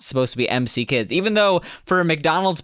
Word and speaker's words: M.C. Kids: I've been calling it McKids until I read the manual and it said MC Absolutely. Kids, and it's like in parentheses EMMCEE.